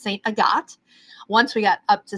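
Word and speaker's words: Sainte-Agathe: But then when we got further up into it, it looks like it's pronounced St. Agnes, but it's St. Agathe.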